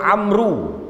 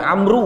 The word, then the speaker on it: Amr: Amal the walls buat Amru Sebenarnya bukan Amru Hai Na mode bukan ambruk ambruk hai Hai Amr Ibnul Ash Amr Ibnu ALS Hai